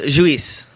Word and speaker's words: Lluis: In Spain, it's pronounced Luis, but there's really no way to say that.